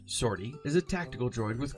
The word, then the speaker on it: 50R-T: canon it comes from 50rt pronounced shorty is a tactical droid